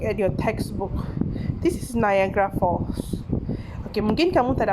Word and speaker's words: Niagara: Okay, listen again. Niagara Falls. Okay, that's how you pronounce it. Niagara Falls. Bukan not Gara, yeah, it's Niagara Falls.